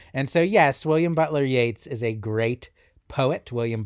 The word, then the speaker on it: Yeats: on a grecian urn i know their names are spelled the same but they're pronounced differently so it's yates and keats and i also i'll